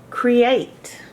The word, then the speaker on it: create: Now you might have thought that the EA was a vowel team, but it's not. It looks like a vowel team EA, but you can hear each individual letter in create, which